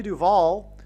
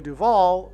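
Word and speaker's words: Duvall: And so, uh, Shelley Duval, uh, uh, her name rhymes with Hall.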